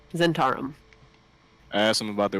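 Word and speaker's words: Zhentarim: Is Zentarum? that how you say it? Yep. Okay, Zentarum.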